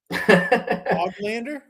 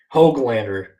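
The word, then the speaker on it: Höglander: Oglander? Hoglander. Yeah.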